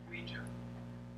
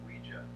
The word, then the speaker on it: Ouija: Ouija. What? It's pronounced Ouija, not Ouija. It comes from the French and German words for yes, we and ya, Ouija.